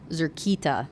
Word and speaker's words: Zerkita: Zerkita is what you meant to say. Well, it sounds pretty similar to me. Zerkita. Catan chittered again and repeated the word, putting the emphasis on the buzzing sound in the second syllable.